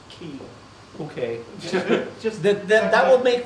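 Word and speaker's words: χ: it's as far as the games are concerned, that X-like symbol is actually pronounced key.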